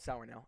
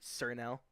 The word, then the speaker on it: Sour Nail: By the way, it's called Sour Nail. I don't know why people pronounce it Sir Nail. Just get that out of the way.